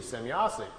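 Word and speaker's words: Semyase: his notes and was trying to write it down phonetically how the name sounded to him. So he wrote it out, S-E-M-Y-A-S-E, Semyasi. So all of his notes, that's what he always called her, but that's how she called herself.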